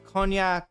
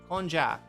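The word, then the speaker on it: konjac: do get like the cognac um cognac. That's the wrong word. Conjac, that's how you say it.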